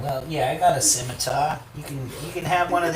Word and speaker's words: scimitar: People calling it a skimmer? Sim. Sim. Let's spell it out for you. Sim, S-I-M. S-I-M. A-tar, T-A-R. Scimitar. It's like a minotaur, except it's a scimitar.